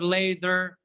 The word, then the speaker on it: later: Now or later or later. Excellent. Yeah, that's right. Later. Yeah. Why do we pronounce T letter there? Because it's between two vowels.